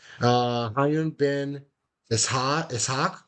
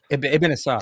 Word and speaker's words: Ibn Ishaq: Hayun bin Ishaq. Am I pronouncing that right? Ibn Ishaq. Ibn Ishaq.